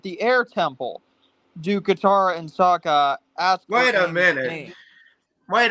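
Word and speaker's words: Sokka: Instead of Saka, you have Soka.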